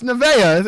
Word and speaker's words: Nevaeh: It's Nevaeh. It's Alexis Nevaeh. She will be in action. Women's Wrestling. All you did was spell it normal. No, I spelled heaven backwards.